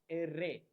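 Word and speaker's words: erre: R is pronounced as array, array. For example, reloc. Double R is pronounced as array. Stress on R, array. For example, recupación.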